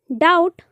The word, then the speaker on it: doubt: डाउट, DOUBT, डाउट संदेह करना। Friend ऐसे होते हैं जो मतलब साइलेंट होते हैं, जैसे कि डाउट है, डाउट